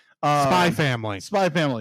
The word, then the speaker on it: Spy x Family: called uh spy family spy family the x is silent oh okay it is